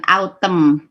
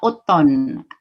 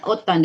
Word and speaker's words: autumn: Jadi bacanya bukan autumn gitu kan. Jadi bacanya autumn. M ketemu N, M-nya tidak dibaca langsung ke N-nya. Ya, jadi dibaca autumn.